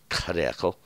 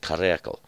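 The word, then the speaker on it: Hiddekel: The word is, in King James it says Hadekel, and that Hadekel should be pronounced Karekel, and that's exactly what it is. It is Karekel, and that means to be rapid or rushing, these rushing waters.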